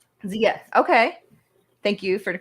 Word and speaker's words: Zia: It's a native word. We pronounce it Zia here. Zia.